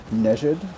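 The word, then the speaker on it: Nejd: I've been pronouncing that area that just came up on that nade for a while, but one of my friends just alerted me that it might actually be called Nejid, which does make a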